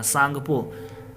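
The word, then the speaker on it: Tsangpo: सांगपो तिब्बत में सांगपो नाम से, देखो इंग्लिश में देखो सांगपो लिखा है कि नहीं, टी साइलेंट है यहाँ, सांगपो।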